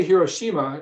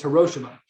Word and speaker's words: Hiroshima: to pronounce hiroshima because we say hiroshima in english but he said the correct way to say it in japanese is hiroshima think about that for